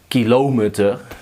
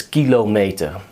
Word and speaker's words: kilometer: So put the emphasis on the first syllable. Don't say kilometer. That sounds weird. It's kilometer.